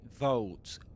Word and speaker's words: vaults: So, this is vaults, but you'll notice that they say vaults, vaults with a kind of uh there. Vaults, vaults. That's something very commonly found in this accent, Southern Standard Standard British English. Uh that's L vocalization, it's called, you know.